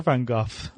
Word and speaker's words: van Gogh: Dutch is a Bangalore van Gogh is in Dutch okay oh you cannot say because that sort of this guttural sounds is sort of typical Dutch but but that's the the Dutch pronunciation okay okay so quite